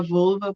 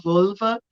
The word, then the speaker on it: völva: você não pronunciou errado tem essa pirulinha do voo alemão mas é só um detalhe não tem nada de errado pode falar volva pode falar boba é que são As